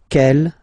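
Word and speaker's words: quelle: And then the feminine form is written like that. C L, but it's pronounced like the masculine form. K at the masculine, kel at the feminine. Okay. So it's basically same pronunciation.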